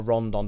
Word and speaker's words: Rodon: Rodon were already there. Or Rondon, depending on who you're listening to.